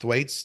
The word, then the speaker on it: Thwaites: reports of the uh Thwaites I think it's pronounced Thwaites th h w AI t s Thwaites or doomsday Glacier increasing